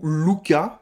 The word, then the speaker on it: Luca: peu ma spécialité alors ce lucas ou luca parce que ça pose prononcer à l'italienne vu que ça se passe là bas moi je di luca voilà tout simplement je le